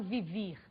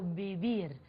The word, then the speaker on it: vivir: pronúncia em português vê em espanhol vê tem o som girlan muito próximo ao b do português portanto eu não falo vivir eu falo bibi ok vamos para o